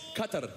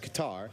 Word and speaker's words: Qatar: sent a pronunciation email it's Qatar yeah he he's right actually I I've been I've been we've wrestled in Doha and so I've been and I always pronounced it guitar Qatar thinking that's how it was it's not it's how